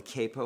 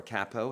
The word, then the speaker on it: capo: It's called the capo or capo, however you want to pronounce it. I pronounce it quapo. That's just me.